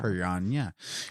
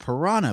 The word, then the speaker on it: piranha: person who actually uses the proper pronunciation of piranha it's it's PNA PIR pirna instead of piranha but I'm not a